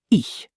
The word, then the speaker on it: ich: Oh, and speaking of German sounds, the ch sound. This one is unique. It's like the sound in the Scottish word lach. Not a hard K, not a hard C. A soft, breathy ch. So, ich.